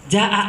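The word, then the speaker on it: جاء: Ja'a itu mad wajib mutasil. Kan Ustaz sering ngajar tajwid ke saya. Oh iya ya. Berarti kalau mad wajib mutasil bacanya jangan 2, 5 Ustaz.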